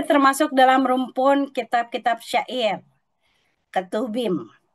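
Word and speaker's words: Ketuvim: Kedudukan kitab pengkhotbah dalam Alkitab, dia termasuk dalam rumpun kitab-kitab syair, ketubim. Kalau V dibacanya B, Bapak Ibu. Ketubim.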